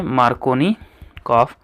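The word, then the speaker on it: Markovnikov: जो है मार्कोनी कॉफ अच्छा स्पेलिंग मार्कोनी कॉफ की कहीं कहीं के ओ ड एफ भी लिखी रहती है तो जो भी सही हो आप उसको कंसीडर कर सकते हैं बोलते मार्कोनिक ही है ठीक है तो मार्कोनिक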